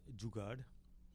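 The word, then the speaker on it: jugaad: En c'est un terme très polyvalent qu'on utilise dans le quotidien et on le prononce jugard.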